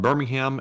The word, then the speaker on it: Birmingham: a fun fact Nottingham Birmingham Etc the ham is pronounced um in the UK due to how we